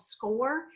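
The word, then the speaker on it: SCOIR: talk about our celebrations it's called score and it's spelled s-c-o-i-r and it's free during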